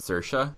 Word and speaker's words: Saoirse: And shut up about Saoirse Ronan.